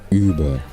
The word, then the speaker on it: über: hey Cal how do I pronounce this Uber sound Uber Oh you mean Uber or is it just well Uber Uber no no Uber so Uber OB how do I pronounce this correctly I'm sure it's Uber it's